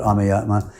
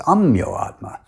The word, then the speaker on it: Ameyatma: We call it Ameyatma. My name is spelled Ameyatma, and everyone else uses the Sanskrit pronunciation and calls me Ameyatma. But Srila Prabhupada has Bengali accent, and he pronounced it as Amyoatma, adding an O in the middle.